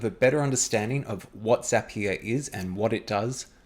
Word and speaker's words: Zapier: That's why Zapier rhymes with happier.